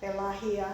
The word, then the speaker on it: Pelagia: How do you spell that? Pelahia. P-E-L-A-G-A. G-I-A. G. It's like I-A. Pelagia.